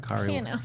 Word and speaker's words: Kari: Yeah, I got to meet Kari Walgren, which she spells her name like me, but she pronounces it Kari.